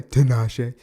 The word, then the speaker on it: Tinashe: Oh, you pronounced that okay. That's hecka funny. Tinashe. That's good, though. You pronounced that well.